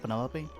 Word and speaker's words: Penelope: short for Penelope? Officially, yes, but I never can be bothered with all 4 syllables of it.